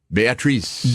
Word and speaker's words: Beatrice: Am I saying it right? Beatrice. Beatrice at Dinner. But you're the only person who's pronounced it right.